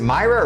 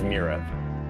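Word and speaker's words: Myrah: I heard his Mira. I heard Mira. All right. Because I know that earlier she was saying Myra and I was saying Mira. I'm back on that episode. Was it spelled with an I or Y? So it's spelled M-Y-R-A-H. So See why Myra. she says. I think it actually is Mira.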